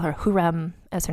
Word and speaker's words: Hürrem: going to I'm just going to call her huram as her name throughout because at least we